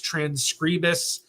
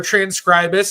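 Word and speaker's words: Transkribus: game, in my opinion, is Transcribus or Transcribus. I actually asked the people that own the company what's the best way to pronounce it, and they said either one.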